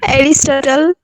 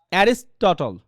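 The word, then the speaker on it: Aristotle: এরিস্টটল অ্যারিস্টটল, শুনেন ওটার pronunciation কিন্তু কথা বুঝেন, এটা কিন্তু ব্রিটিশ অ্যান্ড আমেরিকান, রাইট? এটা আপনি যে পড়েন এরিস্টটল, রাইট? এটা কিন্তু ভুল। অ্যারিস্টটল, sorry অ্যারিস্টটল, অ্যারিস্টটল, অ্যারিস্টটল।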